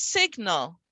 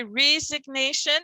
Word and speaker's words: resignation: two consonants sine but as soon as i add a suffix on the gn is only the n sound when it's at the end of a word so here it's signal and both are pronounced right signal and resignation then